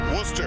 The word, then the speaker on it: Worcester: the gold medal ready oh unbelievable it's pronounced Worcester and it's in the center of Massachusetts New